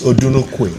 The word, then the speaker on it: Odunukwe: The name is Odunukwe. Odunukwe. Odunukwe. You pronounce it like an Oyigbo guy.